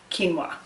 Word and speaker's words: quinoa: spelled qu I am oh a it is pronounced quinoa and this while it's normally categorized with grains